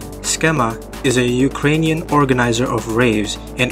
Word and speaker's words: Cxema: Cxema (pronunciado esquema) es un organizador ucraniano de raves en espacios urbanos de Ucrania y Europa.